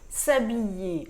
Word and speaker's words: s'habiller: s'habiller paroisse atteint doit s'habiller le h est muet ne se prononcent pas c'est pour ça qu'on